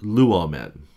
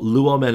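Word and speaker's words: λύομεν: Well, luomen is a verb. It is recessive, which means it wants to be accented on the third syllable from the end, right?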